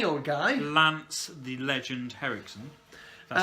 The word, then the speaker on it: Henriksen: Lance the Legend Henriksen. That's how you pronounce his surname.